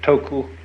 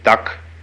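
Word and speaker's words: 德: Uh, the Japanese pronounce it toku, the Cantonese duck, and the northern Mandarins approximately duh.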